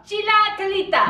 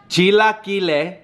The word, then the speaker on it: Chilaquiles: Chilaquiles. Chilaquiles burritos. That's how you say it. Chilaquilita. No. Chilaquiles.